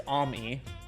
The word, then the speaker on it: Ammy: It's neither. It's Ammy.